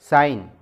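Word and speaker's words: sign: मानी होते हैं मरहम साइन मैं साइन में जी के नीचे Android दी गई है एस आई जी एन लेकिन इसमें जी साइलेंट लेटर है साइन के पानी दस्तखत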